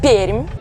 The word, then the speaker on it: Perm: now i'm going to kim if you can't pronounce the name of this russian town don't worry even russians can do it it's peemed locals call it like that but people who